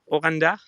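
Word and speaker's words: オランダ: Did I pronounce it okay? Is it Oranda? Oranda?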